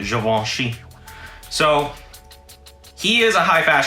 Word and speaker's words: Givenchy: He's also the creative director for Givenchy, or as we normally say, Givenchy, but it's really Givenchy.